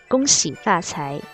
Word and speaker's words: 恭喜发财: Missy prosperity partay prosperity partay wishing you prosperity go see fat hey wishing you prosperity go see pass hi notice